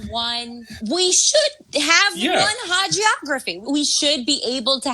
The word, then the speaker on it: hagiography: on the pronunciation, a hagiography. What is that word? Hagiography or hagiography. All right, it's whatever. Either one. It's you're making a sense out of this person.